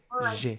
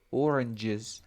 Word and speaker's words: oranges: Focus on this part. Es como una Y vibrante. Mira, Y. Oranges. Y. Oranges.